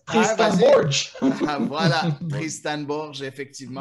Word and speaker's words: Borges: On va le prononcer à la portugaise. Tristan Borges.